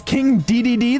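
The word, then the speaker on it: King Dedede: Uh, it's King DDD. That's how you pronounce it.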